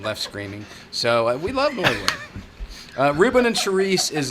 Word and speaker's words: Norwood: uh thing I think it's called Norwood it's pronounced Norwood yes it's pronounced Norwood okay okay well thanks Sunny we appreciate that